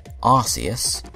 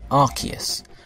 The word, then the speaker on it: Arceus: different pronunciations the announcer of Pokemon Battle Revolution pronounced it arus a promotional trailer for archus and the Jewel of Life Ed pronunciation arus in the final release of archus in the